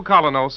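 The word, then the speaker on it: Kolynos: You can get the new Colonos in any drugstore tonight. It's spelled K-O-L-Y-N-O-S.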